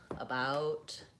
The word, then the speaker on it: about: other words like above about today tomorrow in these words so in the word ba we see the letter e and we might think we need to say the e sound that's incorrect in the word about